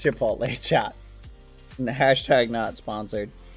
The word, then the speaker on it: Chipotle: No, you guys have never had Chipotto. Wow. Yeah. Oh, sorry. I mispronounced it. Chipotle. Am I mispronouncing it? Chipotle. Chipotle. Chipotle. Oh. Chipula. Chip. Aunt Lee. Chipotle. Am I pronouncing it right? Bad. Please stop messing. I I'll stop. It's Chipotle.